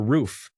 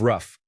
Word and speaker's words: roof: I'm sorry I say creek now instead of crick, or roof instead of rough.